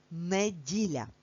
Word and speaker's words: неділя: Це недарма, адже інколи говорячи цей день тижня, ми кажемо неділя і чуємо и, але на письмі ми завжди пишемо букву е.